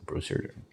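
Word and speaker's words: Broussard: I think it's Brewster. I said Brewster, which is wrong.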